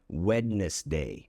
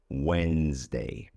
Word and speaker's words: Wednesday: It should be, if you ask me, Wednesday. That would make sense, but it is not pronounced that way. But a lot of people, again, beginners, make this mistake and they pronounce it that way, but the correct pronunciation would be Wednesday.